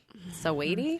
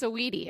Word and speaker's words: Saweetie: Sweetie? What Help is me. it? Sweetie? Sweetie. How do you say it? It's Saweetie, isn't it? It's Saweetie. Saweety is how you spell it.